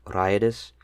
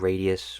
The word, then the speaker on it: Raideus: The name for lightning is Rai in Japanese, and his whole entire character, looking at his profile, it's just about lightning. He has also stated before that lightning is his favorite element, so I'm going to assume that it's actually pronounced Raideus, not Radius or Raideus, whatever you want to say.